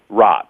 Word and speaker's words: Raatz: Am I pronouncing Eckart's last name right? Yeah, Eckhart Tolle is good. and your last name? Raatz.